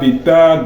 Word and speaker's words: better: mieux mieux en anglais on dit beta comme vous dites en mathématique alpha beta gamma donc beta le B